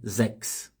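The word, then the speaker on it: sechs: perder a letra s se você falar o número seis isoladamente tem um sezinho né zex Tem esse sezinho no final quando é 16 vai perder a letra s é no final de zex né então vai ficar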